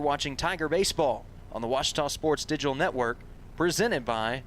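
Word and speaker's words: Ouachita: for wasita Baptist University back in Texas everybody pronounces it Witchita but really it's wash wash wash that would you pronounce it was it's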